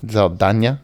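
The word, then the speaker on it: Saldaña: I also learned that Zoe Saldana's last name is actually pronounced Zoe Saldana. Zaldana, yeah, because there's an accent over the end.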